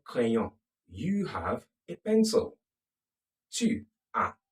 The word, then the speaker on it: tu as: Tu as. The S is silent.